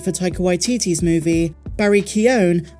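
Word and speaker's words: Keoghan: taika waititi's movie Barry keone as is the proper Irish pronunciation has expressed interest in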